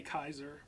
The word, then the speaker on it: Caesar: They say Kaiser Kaiser. Shit. because that's how it would have been pronounced in Latin, I believe.